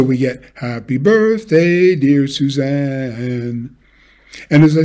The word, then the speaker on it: Suzanne: suzanne the stressed syllable is on the second syllable and we need to line that up with the beat and not line up the first syllable which is unstressed so we move the first syllable back shorten it and make and then make two notes out of the single syllable single stress syllable zan uh so we get